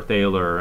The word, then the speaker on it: Thaler: to the english-speaking world they were mispronounced and called dollar instead of dollar or Thaler and and that's where